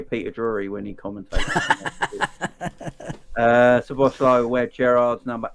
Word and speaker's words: Szoboszlai: Yeah, Szoboszlai, I believe is the way you pronounce it. Szoboszlai. The Z is a long S, with the Z, S and the Z is a long S, apparently.